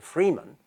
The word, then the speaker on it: freeman: this figure called the freeman, that's one word, and that's how you should pronounce it, the freeman, and the vassal, the